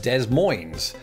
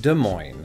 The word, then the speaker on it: Des Moines: the case in fact I learned years ago that those s's were very much silent in this word just because of the French influence and but it turns out that I've still not quite been getting it right I've been walking around this whole time or just you know lying around I don't have to be walking while saying it the point is when I say it I've been saying Des Moines because that sort of